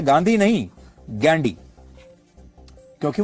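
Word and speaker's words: Ghandy: अंग्रेजी में वो गांधी नहीं गैंडी लिखते थे जिसकी स्पेलिंग है जी एच ए एन डी वाई गैंडी।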